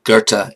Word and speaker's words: Goethe: on the screen because to pronounce Goethe in German like there's an oar in it there's not a damn